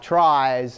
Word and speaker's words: trie: named, I think, because you might want to pronounce it tree, but it's a type of tree that's called a trie. And the guy who created the trie, I believe he actually named it tree, like wants it to be pronounced tree, and then everybody's like, that's silly, we've already got those. And he goes, well, I don't care anymore. And then now we just call it tries and whatever.